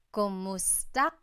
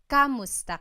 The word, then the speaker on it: kumusta: Kumusta ka? So it's spelled K-U-M, kumusta ka. But sometimes you might hear some people say kamusta ka, like it's a K-A sound.